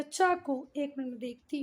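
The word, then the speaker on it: Chaco: Of grand काको या चाको। एक minute देखती हूँ बच्चा, इससे स्टूडेंट्स तो अच्छा हुआ देख लिया। ये चाको काको कुछ नहीं, ये चेका, क्या बोल रहे हैं इसको, गूगल प्रोनाउंसिएशन चेका, ठीक है।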